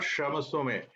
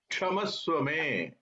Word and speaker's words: क्षमस्व मे: It's not Shamaswame. Kshamaswame.